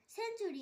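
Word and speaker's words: century: এখানেও টি এর পর ইউ আছে তাই টি এর উচ্চারণ চ হবে। সেঞ্চুরি, SUN সেন, TURY সেঞ্চুরি।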